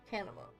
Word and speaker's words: Arcanima: There's not another syllable in there. Arcanima.